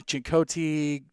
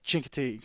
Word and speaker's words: Chincoteague: Virginia coach on because I was saying Chincoteague, Chincoteague. I didn't know how to say it. He goes Chincoteague, and I was like, boom, got him.